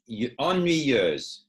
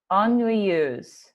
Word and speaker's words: ennuyeuse: How do you pronounce it? Ennuyeuse. Ennuyeuse.